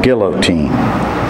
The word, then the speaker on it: guillotine: Libby said they have a thing called a guillotine and I corrected her you pronounce it Guillotine it's a terrible thing